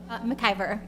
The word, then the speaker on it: McIvor: McIvor, it's M-C-I-V-O-R. Okay. So you don't pronounce the M?